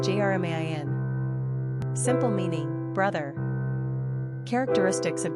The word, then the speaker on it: Germain: Pronunciation, Jermain.